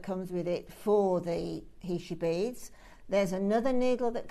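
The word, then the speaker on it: heishi: spinner so a sort of and actually you pronounce these beads HEI not heshi but it doesn't really matter we all know what what we're talking about but HEI it was a tribe in New Mexico apparently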